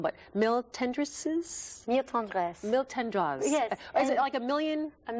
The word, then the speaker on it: Mille Tendresses: Mille Tendresses.